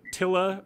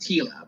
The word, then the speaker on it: Tilla: The scenes with Tilla, kind of like learning about the technological world. Well, her name's pronounced Tila, but Tila, fair enough.